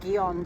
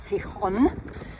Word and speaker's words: Gijón: had another lovely warm showers stay here in, I was pronouncing it Gijón, but it's Gijón.